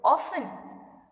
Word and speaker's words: often: So often, we use often. We don't use T.